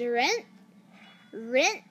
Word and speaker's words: 人: first one is person the pronouncation in Chinese for person is rent rent the writing is like